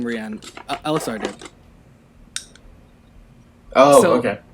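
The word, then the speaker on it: Reine: on that marielle played the character's name is rihann but the thing is it's spelled r-e-i-n-e so it spells like the name rain um which is what we all thought it was when we were so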